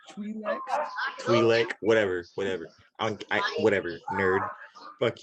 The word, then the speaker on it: Twi'lek: They're pronounced Twi'leks.